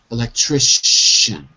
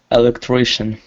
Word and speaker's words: electrician: again electrician electrician good would you see the letters see i or T I always pronounce sure thankfully like nation electrician more time electrician perfect order after the